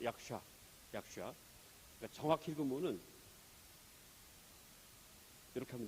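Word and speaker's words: यक्ष: 이게 싸가 아니고 사가 아니고 샤라고 읽으면 됩니다. 약샤.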